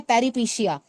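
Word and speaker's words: peripeteia: Complex में हमारी एक वर्ड आ रही है जो आप नोट करोगे, स्पेलिंग लिख लीजिए, PERIPETIA। इसे हम कहते हैं पेरिपीशिया।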